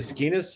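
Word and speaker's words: Skenes: and Paul skus is a skus is how you say it SK SK of the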